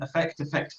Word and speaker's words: affect: I'm asking, because when I read the book, I was thinking affect, and then I saw it should be the stress is on the first syllable, affect.